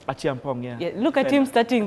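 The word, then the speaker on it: Acheampong: Look at Achiampong. That's how you say his name. Achiampong, yeah.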